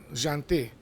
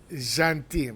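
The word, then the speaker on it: gentil: cool guy and yes you don't pronounce the L even when the L is pronounced in a lot of words in French final L but here you don't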